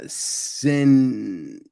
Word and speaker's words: Centauro: people i checked out uh sintorio hmm i think that's how you pronounce this it's uh yes centauro c-e-n-t-a-u-r-o right it's a remake of